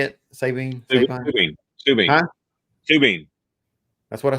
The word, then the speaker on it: Sabine: Sabine.